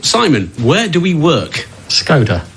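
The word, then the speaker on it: Skoda: welcome to training Simon where do we work scod not scoda it's pronounced scod so we've been saying it wrong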